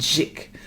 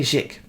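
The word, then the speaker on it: Jikh: His name is Andre, I think you pronounce it Zik. Andre Zik.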